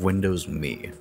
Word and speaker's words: Windows Me: and decided to capitalize on this Market with Windows me and yes that is how you pronounce it the main draw to me was